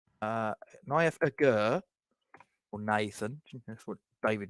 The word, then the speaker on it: Aguerd: Because they don't pronounce the D, do they? I've noticed that. Naya Agur, or Nathan, that's what David Moyes calls him, and Kurt Zuma.